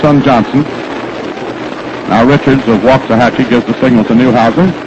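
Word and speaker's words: Waxahachie: behind the catcher Paul Richards Richards comes from waah hatchee he tells me that's the way to pronounce it down in Texas we've been calling it waxahachi and we apologize now to every citizen of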